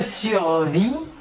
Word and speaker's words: survis: survie est vrai mais se conjugue ainsi je survis tu survis il est loué on survit nous